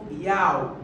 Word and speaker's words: yaw: الياء او بالعربي تلفظ ياو، هي حركة الطائرة حول محور عمودي، هذا المحور العمودي الوحيد الثابت، البقية حول محور افقي.